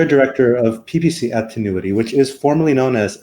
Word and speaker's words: Tinuiti: Tinuiti.